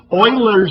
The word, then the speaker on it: Euler: to show you how to build some fields Euler's method that's the correct pronunciation we're not even going to discuss in